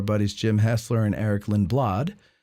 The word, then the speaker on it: Lindblad: The Battle of Gettysburg podcast, number 4, by, of course, our buddies Jim Hessler and Eric Lindblad. Lindblade, I think is how you pronounce it back in the old country.